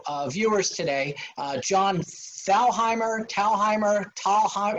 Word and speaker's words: Thalheimer: viewers today uh john fellheimer talheimer taha how do we say your last name john it's actually john tallheimer the first h is silent john tomlier so john